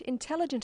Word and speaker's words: intelligent: formal academic language but when you come across longer words you have to learn which syllable to stress for example we say in telligent increasing and markedly notice that when you